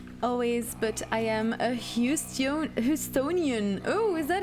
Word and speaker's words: Houstonian: Always, but I am a Houstonian.